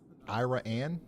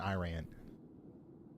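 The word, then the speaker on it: Iraan: Ira Anne. Oh, okay. Ira Anne. That makes sense. I knew it wasn't Iran.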